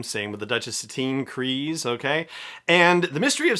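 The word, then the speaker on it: Kryze: the whole pronunciation thing has been settled so crees like freeze is how you pronounce bokutan's last name same with the duchess satine crees okay and the mystery of sasha banks has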